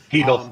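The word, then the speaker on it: Chytil: I know they got Chittle, or however you say his name. Heedle.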